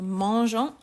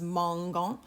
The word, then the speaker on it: mangeant: The mangeant, which of course has that E in there because the GA combination would be pronounced as mangant. So just like we did with the imperfect way back in French too, when we've got an A after a G, we're going to put an E in between for pronunciation.